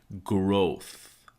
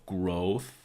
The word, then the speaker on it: growth: astonishing next word is growth so we have this one syllable of growth but have that careful th with the tone to your teeth so the very top